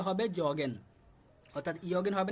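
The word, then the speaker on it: joggen: একটা exceptional word এটা সবাই খেয়াল রাখবেন এখানে উচ্চারণটা হবে জগেন অর্থাৎ ইয়গেন হবে না জগেনের মত উচ্চারণ হয়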